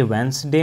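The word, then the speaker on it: Wednesday: हैं जैसे देखिए ये वेनसडे में हमारा कौन सा इसमें साइलेंट होता है डी हमारा साइलेंट होता है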